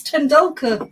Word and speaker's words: Tendulkar: I can even pronounce Tendulkar correctly.